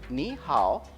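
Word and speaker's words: 你好: Like you can say ni hao.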